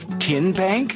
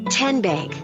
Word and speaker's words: TN Bank: half in a moment how do you say the name tn bank no tin bank uh-uh so what is it ten bank ten as in tennessee right here where all